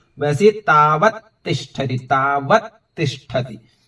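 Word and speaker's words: तावत्तिष्ठति: जैसे दर्शनातस्य था वैसे तावत तिष्ठति, तावत तिष्ठति। तावत अलग है, तिष्ठति अलग है, लेकिन जब बोलेंगे उच्चारण करेंगे तो एक साथ आ जाएगा।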